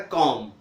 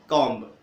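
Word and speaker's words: comb: जैसे कॉम, B silent, लिखेंगे बी लेकिन उच्चारण नहीं करेंगे, तो क्या हो जाएगा कॉम, न कि कॉम्ब।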